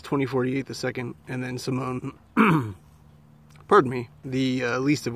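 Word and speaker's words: S1m0ne: I watched LX 2048, Warning, and Simone, which is spelt kind of weird, like how Megan is, with the E as a three backward and all that. It's Sim One.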